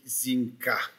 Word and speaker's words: Incas: On va dire quelque chose sur les Incas. On fait un peu une exception en français, on prononce Inca.